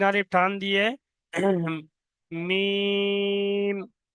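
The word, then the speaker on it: ميم: মিম। মিম উচ্চারণ হয় দুটো শুধু ঠোঁট দিয়ে, দুটো ঠোঁটের শুকনো অংশ।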